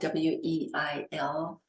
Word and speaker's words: Weil: Her last name is spelled W-E-I-L.